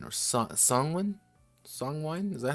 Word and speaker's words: Songwin: So Songwine or Songwin? Songwine? Is that how it's spelled?